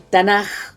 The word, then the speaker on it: Tanaj: acrónimo, justamente el acrónimo Tanaj, que son la Torá, ahí está, nomás, el Nevi'im, y el Ketuvim, que se escribe, podría ser o KH, pero se pronuncia como una J suave.